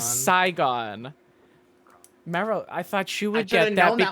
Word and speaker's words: Saigon: no I think it's Sega I will accept your Miss slight mispronunciation the correct answer is Saigon I thought she would